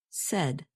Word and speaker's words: said: spoke to her and notice that the past tense of say is pronounced said you can remember this pronunciation by thinking of words that rhyme with said such as red and head and what about the